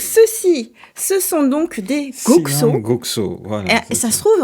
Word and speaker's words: Goxo: trouve en base que ça se prononce tu sais les X ils ont l'air parfois de s'appeler c'estis comme les pinchos ça se trouve faut dire gocho ok donc il s'agit